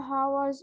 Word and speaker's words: hours: Lay like dead from the first several hours until hours. Take care. H is silent here. Hours. No H here.